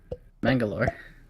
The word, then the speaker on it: Mangalore: No, there's a chief port city of the Indian state of Karnataka is Mangalore.